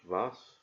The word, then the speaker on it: Waes: I've gone for the French Regiment Lorraine, butcher the French language there, and the Dutch Regiment, I think it's pronounced Waes, W-A-E-S. I think that's it.